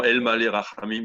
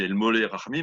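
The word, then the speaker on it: אֵל מָלֵא רַחֲמִים: Je chante plutôt en général prononciation dite israélienne. Donc, bon, El Malé Rachamim est devenu El Molé Rachamim, mais je vais essayer de faire ce que je peux.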